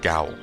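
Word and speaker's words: gaol: Did you know they'll drag a man to the cow over a single missing gill? To jail. It's a archaic way of saying jail, Jail, but it's pronounced the same way apparently.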